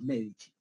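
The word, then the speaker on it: Medici: Mundial Duche en italiano Cuando tú veas la letra c esa c se pronuncia como Che ent por eso se pronuncia los Michi bieno que no it G entonces Francesco medich era un burgués él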